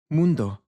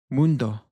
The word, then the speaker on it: mundo: Mundo. We have a little bit of a distinctive difference here because the U in Spanish is pronounced as a double O. So we get this U sound. Mundo.